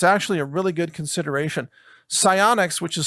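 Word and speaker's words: SiOnyx: vision and it's actually a really good consideration psionics which is spelled s-i-o-n-y-x these low-light cameras one of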